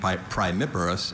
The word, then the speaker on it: primiparous: Myers studied the differences in birth rate between primiparous and multiparous crabs. Primiparous. Primiparous. Schwa on the Does this third come syllable.